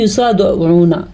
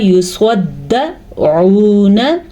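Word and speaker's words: يصدعون: ہے، اکثر لوگ اس کو پڑھتے ہیں یصدعون، یصدعون، یہ غلط ہے کیونکہ دال پہ شد ہے، تو اس شد کو ضرور آپ نے پڑھنا ہے۔ آپ نے پڑھنا ہے لا یصدعون، آئین کے تلفظ پہ خاص دھیان رہیں۔ اگر آپ اس کو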